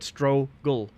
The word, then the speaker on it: struggle: say struggle while in people would just overpronunciate that so in this case they pronounce every two letters stu ro gu al that's that's what they will say but in reality which is a struggle that's what you would pronounce yet stro gull instead of stu rogel that's me ranting just